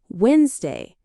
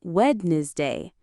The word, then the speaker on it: Wednesday: Number 1, Wednesday. A lot of people say Wednesday, but in natural English, we say Wednesday.